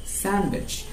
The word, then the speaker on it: sandwich: okay second word okay this is not sandwich this is sandwich you don't have to pronounce it the letter d